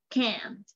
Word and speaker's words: can't: Hay muchos nativos que no pronuncian la T, solo pronuncian hasta la N, pero sí con el énfasis. ¿Cómo es el énfasis? Así, can't, ¿no?